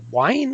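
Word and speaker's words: Wein: Um you actually had Marv Wolfman and Len uh Wine I think is how you pronounce his name.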